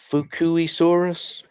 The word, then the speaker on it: Fukuisaurus: I looked up how to say it, and after it said how to say it, I realized it's kind of like Fubuki.